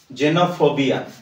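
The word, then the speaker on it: xenophobia: exist and exact okay M AB like xerox জেনোফোবিয়া জেনোফোবিয়ার meaning হচ্ছে অন্য ব্যক্তিমান বা strange নোয়া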